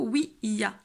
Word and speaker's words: Ouija: On prononce plutôt oui-ya. Pourquoi? Parce qu'en fait oui, donc pour le oui en français, et ya pour le oui en allemand. Donc on prononcerait normalement oui-ya.